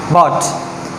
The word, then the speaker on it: bought: जैसे कि BOUGHT, this is बॉट। यहाँ पे देखिए G और H जो हैं वो दोनों साइलेंट हो चुके हैं, ठीक है।